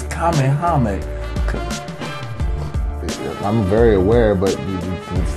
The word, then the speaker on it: Kamehameha: It's Kamehameha.